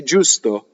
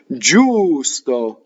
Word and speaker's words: giusto: So when you go faster in singing, you're always keeping the U longer, right? G-I-U is Jew, right? Which is also the word for get down, right? Jew, right? Or down, right? Giusto, meaning just or equal, right? Giusto. Now, to make it hard, you'd have to have G-H-I, right? Would make it gi, right?